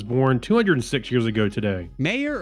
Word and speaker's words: Mayer: 206 years ago today mayor of meyer because it's spelled the same way as oscar meyer oscar m-a-y-e-r all right meyer ernst schroeder the german